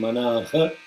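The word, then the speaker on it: मनः: Okay, the only place is the visargas at the Sumana and Manaha. You have to say Manaha, Sumanaha. Visarga should be pronounced completely, not Sumanaha, Sumana.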